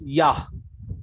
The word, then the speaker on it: Yah: The first syllable of the name of our God is Yah. And in Psalm 150 also we say Hallelujah, that Yah. So if first syllable is Yah, then how can it be Yehovah? Yehovah is a completely wrong name.